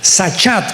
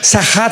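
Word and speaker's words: שחת: Sahat con s de Samuel y ch. Sahat. Sahat se pronuncia, que significa corrupción moral.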